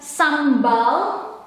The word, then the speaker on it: sambal: And this in Indonesian is pronounced as sambal or sambal. Sambal, sambal.